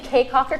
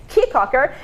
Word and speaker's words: Caye Caulker: do in cheek Hawker I keep saying caye caulker because the way that it's spelled but I'm gonna come right cheek Hawker and we're gonna I'd